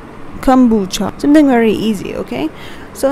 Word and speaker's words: kombucha: this is what you call is it as kombucha okay kombucha kombucha something very easy okay so next time whenever